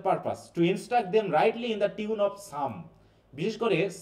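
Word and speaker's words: Psalm: Country for purpose right in tune of some. বিশেষ করে সাম নামে একটা চ্যাপ্টার আছে। একটা বই আছে আমাদের বাইবেলে। দেখ উচ্চারণটা কিন্তু হচ্ছে সাম।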